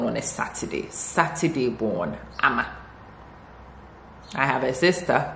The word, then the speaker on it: Ama: My name is Ama. Ama. A-M-A. Or, some people actually do A-double-M-A. Ama. Ama. So, and if you were born on, I was born on a Saturday. Saturday born, Ama.